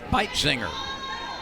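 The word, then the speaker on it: Beitzinger: row here's pikezinger spelled b-e-i-t z-i-n-g-e-r and pronounced fight singer out of pittsburgh kansas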